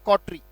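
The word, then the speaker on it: coterie: ये उच्चारण है इसका, क्या उच्चारण है? कॉटरी।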